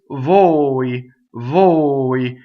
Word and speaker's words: voi: And it does not rhyme with voi. It's actually a closed O, right? So closed O, right, is O, as in oats in English, right? So it is voi, voi.